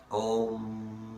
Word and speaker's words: Om: And the mantra for the third eye chakra, Om. Now, it is spelt in phonetics to be A-U-M, but that's, if you understand, if you speak Hindi or Sanskrit, you'll know that A-U is the sound of O, and that's why often